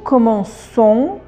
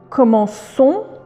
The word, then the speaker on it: commençons: Vous voyez sur le C, on a ajouté la CD. C'est le C de CDI. Pourquoi ? Pour parce que quand il y a un C et ensuite il y a un O, on dit co. Voyez comme commencer. Mais comme pour garder la même façon. de dire je commence, tu commences et d'avoir la même chose.